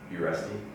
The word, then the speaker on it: Uresti: Uresti. Uresti. Uresti.